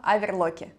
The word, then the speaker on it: оверлок: сегодня мы будем говорить об overwatch я даже правильно поставила ударение так дима педаль для педаль